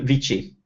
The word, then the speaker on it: WC: And it's in Italian, it's pronounced il vici.